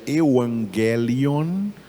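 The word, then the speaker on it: εὐαγγέλιον: Em grego se pronuncia euangelion.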